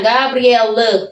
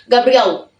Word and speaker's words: Gabriel: Gabriel di sini itu E itu bacanya agak mendem ya guys ya. Gabriel itu kalau ngomong bagusnya Gabriel. Tapi kalau orang sini ngomong cepat Gabriel enggak ada e-nya ke mana? Gabriel. Ehenya dia mendem masuk ke dalam ke dalam lubang.